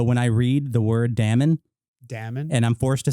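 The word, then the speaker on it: daemon: m o n is Damon apparently and the AE is an a sound like apple or bad linguistically so when I read the word Damon Dam and I'm forced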